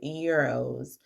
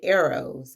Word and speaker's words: Eros: 8, Episode 5, Wounded Euros. So, Wounded Eros. Obviously, I don't know why I said Euros. Euro is money. Eros is the Greek god of love. Two different things, two different pronunciations, but that's neither here nor there.